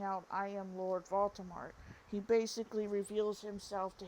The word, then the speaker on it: Voldemort: name correctly the name Baltimore has a French origin oh and the T at the end of it the T at the end is silent excuse me um the